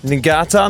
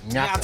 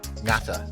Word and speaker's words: Ngata: Hamona Ngata. No, that's not right, is it? How do you say it? Ngata. I wasn't even close at all. Yeah, Ngata.